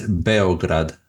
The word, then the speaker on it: Beograd: Belgrade? There's a few. I mean, I guess the anglicized way is Belgrade, but in Serbian it's Beograd. Beograd, yeah.